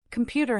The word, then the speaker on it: computer: computer has stress on the second syllable.